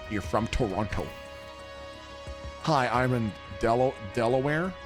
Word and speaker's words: Toronto: Everyone else says Toronto and people from Toronto say Trana. Where you from? I'm from Trana. No, you're not. You're from Toronto.